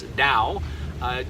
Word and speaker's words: Tao: my website at Tao spelt ta o but pronounce Dao journeys dot-com check out